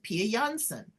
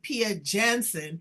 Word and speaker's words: Pia Jansson: We are going to be meeting with Pia Jansson. I said it right, but they pronounce it Pia Jansson here in the United States.